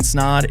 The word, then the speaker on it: Snaadt: everybody my name is snod it rhymes with odd and you're listening and